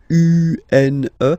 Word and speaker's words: une: Then the feminine article is here, and it's easier because if you have this U-N-E, then you pronounce it une, okay?